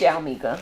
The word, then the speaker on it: Yalmika: Yalmika or Yalmika? It's Yalmika. Yalmika, because you said it different earlier. I'm like, why'd she say it like that? Because you added another I or something.